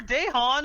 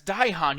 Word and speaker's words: Daihan: Yeah, fucking poor Dahan, who Nick will never pronounce his name right. That's Daihan. You just fucked it It's up. not Dahan.